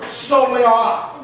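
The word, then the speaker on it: סֹלְלָה: It's C-O-L-E-L-A-H. That's pronounced like S-A. So it's the word soleah.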